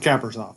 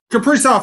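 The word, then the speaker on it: Kaprizov: Uh what's up with Kappers? Well, first of all, his name is pronounced Capri. Capri off.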